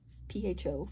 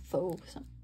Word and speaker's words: pho: Another day, my daughter came over and we had pho, P-H-O, pho, I guess it's pronounced in some cases, and pho in others.